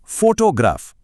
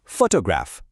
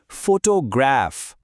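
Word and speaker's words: photograph: कई बार लोग इसे बोलते हैं फोटोग्राफ, मतलब बीच वाले हिस्से पर जोर देते हैं। सुनने में थोड़ा अटपटा लगता है ना? जबकि सही तरीका है पहले हिस्से पर जोर देना, फोटोग्राफ।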